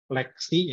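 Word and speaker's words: LXC: Nah, ini ada 2 contoh, yakni Docker dan Lexi ya. XC dibacanya Lexi ya.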